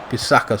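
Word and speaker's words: Wan-Bissaka: Bissaka, sorry.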